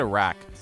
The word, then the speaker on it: Iraq: with the invasion of Iraq and Afghanistan. I can't believe that. I have to apologize to myself right now. I said Iraq. I'm Middle Eastern. Iraq. There you go.